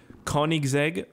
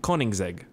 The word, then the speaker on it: Koenigsegg: Koenigsegg, right? It's Koenigsegg. Yeah, that's it. I got it. I'm good. I can pronounce things.